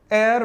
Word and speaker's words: heir: एयर पढ़ा जाता है, तो यहां पर H भी साइलेंट है, ब्रिटिश इंग्लिश का R भी चला जाएगा, बट H साइलेंट होने की वजह से ये एयर साउंड रखता है, एयर। ठीक है, इसे हेयर नहीं पढ़ा जाता, मैंने वीडियो में पढ़ाया आपको।